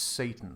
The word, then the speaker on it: Seyten: the last 2 weeks whose name is spelled Seyten. And I was talking to him back and forth on a web chat about a technical problem the school was having. When the phone rang, it's like, "Oh, hello, Andrew. It's Satan from Capita." And you're like, No. you're fucking kidding me. That's how it's pronounced.